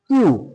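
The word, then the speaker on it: queue: তাহলে এই ওয়ার্ডটা আমরা দেখে নিই যে কিউ ইউ ই আবার ইউ ই এইটার উচ্চারণটা হবে কিউ। এবার উচ্চারণ হবে কিউ।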